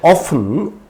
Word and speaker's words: often: Generally, in the word often, OFTEN, T is silent.